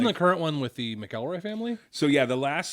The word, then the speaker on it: McElroy: Is it McElroy or McElroy? It's McElroy. McElroy. Okay. When you read it, you might pronounce it McElroy. Got it. But the way they pronounce it is McElroy. And they're probably the experts on that.